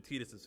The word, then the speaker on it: Tidus: Tidus' quick hit, Tidus' LD, ulti, Tidus. Terra. Don't mind how he's pronouncing it. It's Tidus.